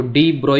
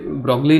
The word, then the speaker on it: de Broglie: तो डी ब्रॉय यहाँ पे ब्रॉगली लिखा हुआ है लेकिन प्रोनाउंसिएशन इज डी ब्रॉय, तो डी ब्रॉय हाइपोथेसिस बोलते हैं इसको।